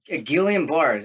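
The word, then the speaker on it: Guillain-Barré: to tell this story what tell us about Gillian bars am I pronouncing that correct yeah it's it's French why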